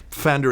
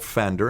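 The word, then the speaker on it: Pfander: so your ace yet fender it's named after dr. cult fender and it's you you do pronounce the P who is my hero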